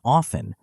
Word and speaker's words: often: Examples include the K in no, the B in doubt, the T in often, though this is changing in some dialects, and the P in psychology.